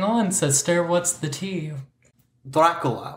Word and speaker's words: Dracula: sister what's the tea Dracula which is how you say it in Romanian m and so because